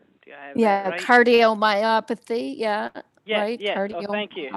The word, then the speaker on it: cardiomyopathy: to tell the lady uh if i can pronounce it right cardiomyosplay do you have yeah cardiomyopathy yeah yeah yeah thank you yeah her her